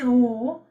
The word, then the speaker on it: au: AUX is O. EN is on. AU is again O.